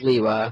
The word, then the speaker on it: Lewa: Kanohi Hao, Liwa, Lewa. Well, no one really agrees on Lewa. I'm still confused whether it's Lewa, Liwa, or Liwa. It's Liwa, but Explode, I mean, they could have just spelled it normally.